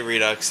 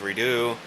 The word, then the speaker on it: Redux: I say Redux, even though it's supposed to be pronounced Redo.